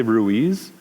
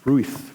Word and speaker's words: Ruiz: it's from Columbia so I say Ruiz and uh my Spanish friends are always tell me I'm saying my own name wrong like no no no it's Ruth Ruth something like that it's Ruiz Ruiz oh no something happened